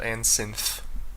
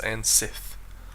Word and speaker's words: Ansith: No, I always want to pronounce that Ansynth, but it's Ansith. Like poor grammar Sith.